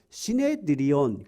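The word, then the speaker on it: συνέδριον: 그 당시 헬라 말로는 산헤드린, 우리는 산헤드린이라고 되어 있는데 시네드리온 그렇게 발음을 하는데 산헤드린 공회예요.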